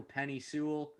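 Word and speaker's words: Penei Sewell: I'm gonna mispronounce this name somehow, but the Cincinnati Bengals at number 5 take offensive tackle Penny Sewell. I definitely mispronounced that.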